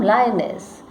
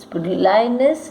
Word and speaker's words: Lyonnesse: Lyonnesse, lonesomeness. Away rhymes with spray. Okay, lyonnesse, guess. There, declare. Third stanza, lyonnesse rhymes with fathomless, and eyes rhymes with surmise.